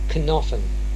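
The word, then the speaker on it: knofen: When K precedes the letter N, in Cornish it is always pronounced cnoffen, a nut, canukia, to knock at the door.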